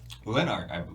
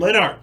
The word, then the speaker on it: Lennart: Our next submission comes from Megan Leinart. Lennart, I believe. Lennart, sorry. Yeah. I always say it wrong.